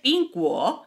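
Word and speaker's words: 苹果: Pues porque nochebuena en chino se dice PINGANYE y manzana se dice PINGGUO y ya sabes lo que les gusta a los chinos los juegos de palabras.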